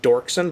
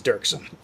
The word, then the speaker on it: Dirksen: means I know a lot of people pronounce it Dorksen, but it is Dirksen.